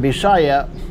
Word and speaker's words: Bisaya: I also need to explain that when I use the word Bisaya, that's with the B, not like my wife says B as in Victor, Gloria, but B as in Betsy and B4.